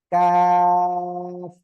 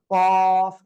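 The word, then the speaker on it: كاف: প্রথমত এই যে অক্ষরটা, এটা হবে কফ মোটা আওয়াজে, আর এটা হবে চিকন আওয়াজে, কাফ।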